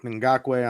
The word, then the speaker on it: Ngakoue: It all starts with Yannick Ngakoue on the edge. I probably butchered his name as well, but No, you said it right.